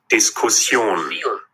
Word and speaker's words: Diskussion: আমরা যদি আলোচনাটারে দেখি, এটার উচ্চারণ কিন্তু নরমালি আমরা ডিসকাশন বলি ইংরেজিতে, ডয়েশে কিন্তু এরকম না। Diskussion.